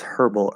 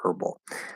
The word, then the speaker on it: herbal: also why is yeah why is herbal herbal uh well it is and it's and it isn't um most Americans I guess I can't say for sure but I think most Americans um definitely most western Americans for sure if nothing else uh don't say the H okay and I'm pretty sure most Americans in general don't say the H there are some Americans who do it is part of some dialects um the H